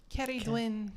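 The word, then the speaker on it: Ceridwen: That's how they say her name in Welsh. Cerridwen. Oh, that's beautiful. We just say Cerridwen.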